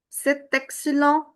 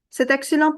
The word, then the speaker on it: c'est excellent: T at the end will not be pronounced because it's a consonant. C'est excellent, Pierre.